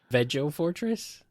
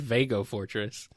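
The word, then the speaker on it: Veg-O-Fortress: The Eggo Fortress, like egg, or Veg-O Fortress, like vegetable? I must know. That's how I always pronounced it. Veg-O Fortress? Yeah. I always said it Vago Fortress.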